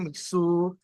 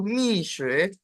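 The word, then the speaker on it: Mixue: Beberapa di antara kalian pasti ada yang bilang Mitsu, Mitsu, Mitsue, Mitsue, Mitsu. Ya, hari ini Lause pengen coba membenarkan. Jadi untuk merek ini kita sebutnya itu Mishue.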